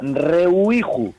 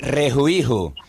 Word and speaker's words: rejuiju: Rehuiju, ¿no? Re- ¿No se dice así? No se dice así nada, se dice se dice rejuiju, que es una fiesta, rejuiju.